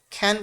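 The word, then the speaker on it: can: হয় এইজন্য কি করবেন এই ক্যানকে অবশ্যই খ্যান পড়তে হবে সি এর উচ্চারণ খ এর মত হবে খ্যান পাড়া ফ্লাট হ্যাঁ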